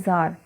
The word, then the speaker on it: Tsar: इन 1914 जार Nicholas second, देखिए ये actually spelling तो इसकी TSAR है, बट इसको पढ़ते हैं जार।